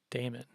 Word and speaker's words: daemon: it's related to matt is it pronounced demon or demon like uh jamaican we still use both pronunciations with demon with damon being used by the more experienced team leaders and the youngsters typically say demon was always pronounced damon